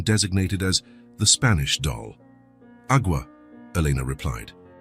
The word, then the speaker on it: agua: "Agua," Elena replied. "It's pronounced agua, with a very soft G-E.